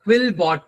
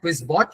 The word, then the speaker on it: Quillbot: Uh for it you can use uh Quillbot ma'am not quizbot it's quillbot. Uh you can also use this use case for it. Okay. So which which is spelled as qu u i l l b o tbot.